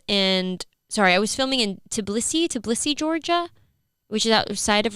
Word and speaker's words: Tbilisi: the cast members and I was filming in Tbilisi, Georgia, which is outside of Russia. Is that how you pronounce it?